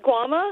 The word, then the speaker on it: Guama: And my name's pronounced Guama. It's Guama, like I'm the sorry. island Guam, but with an A at the end of it.